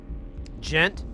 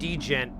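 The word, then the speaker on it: djent: Gent. Oh, it's So, it's spelled D G.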